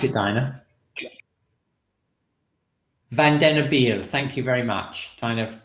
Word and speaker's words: Vandenabeele: Can you just let us know how well you know the work of Philippe Vandenabeele? Vandenabeele. Right. Vandenabeele. Can you pronounce it, Dinah? Vandenabeele.